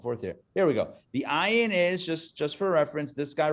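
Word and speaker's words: עין: The ayin, like the aleph, is a silent letter. So it just makes the sound of the vowel, which is the ah.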